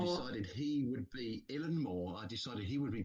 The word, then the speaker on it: Eilean Mòr: So, I went on to YouTube and I found a Scottish fer who pronounced it Illan Moore. Illan Moore. And I decided he would be Illan Moore.